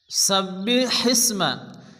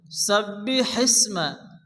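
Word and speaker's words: سَبِّحِ اسْمَ: বিসমিল্লাহির রাহমানির রাহিম এখানে শুরুতে যে ওয়ার্ডটি এসছে সাব্বি হিসমা শুরুতে বড় হেসে এই হাকে মুখ দিয়ে বাতাস বের করে উচ্চারণ করে পড়তে হবে সাব্বি হিসমা সাব্বি হিসমা রব্বিকাল রব্বিকাল আলা শেষে লাগে টেনে পড়তে হবে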